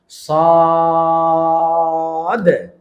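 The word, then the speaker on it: صاد: এইজন্য যখন আমরা সদ এবং দদ এই দুইটা হরফের উচ্চারণ বলব তখন আমরা টান দিব, মোটা করব এবং শেষে একটা ধাক্কা দিব। কিভাবে? সদ।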